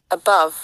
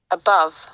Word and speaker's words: above: দেখো এখানে বি ও ভি এর আইপিএস সিম্বল দেওয়া আছে, এটার উচ্চারণ হচ্ছে ভাভ, অ্যাভাভ, অ্যাভাভ। Above. Above.